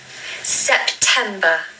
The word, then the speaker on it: September: September, September, September. The stress is on the second syllable. You really need to say that loudly.